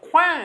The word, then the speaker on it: coin: So like quan in French is corner, but coin in English is a small metal monetary disc. So if you're accessing French, you wouldn't really expect that quan would pull up a word like money in English.